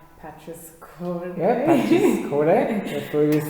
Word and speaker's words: Patris Corde: Yeah, Patris Corde.